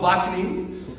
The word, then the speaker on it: Ouaknine: Noam, you may have seen on your program guide, but I'm sure none of you know how to pronounce the last name. It's Noam Ouaknine.